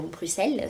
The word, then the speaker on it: Bruxelles: Alors j'ai mis extrêmement longtemps, je dois pas être très finaude, à comprendre que Bruxelles c'est la ville Bruxelles, qui se prononce normalement Bruxelles sans le X, mais voilà.